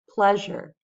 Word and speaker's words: pleasure: But the next word has 2 syllables, and I want to show that it's the first syllable that gets the stress.